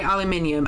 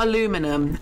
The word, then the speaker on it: aluminium: Sorry if this is really annoying and basic, but can you say aluminium? Aluminium. Not aluminum. Aluminum is a very, very annoying way of saying it. It's aluminium.